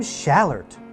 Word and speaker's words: Schallert: William Schallert.